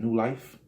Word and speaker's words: NULYFE: That's New Life. Well, life is spelled LYFE.